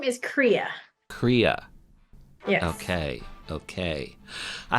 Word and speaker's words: Kriya: you for being here okay I'm sure I butchered your name how do you say it so my first name is Korea Korea yes okay okay I have to say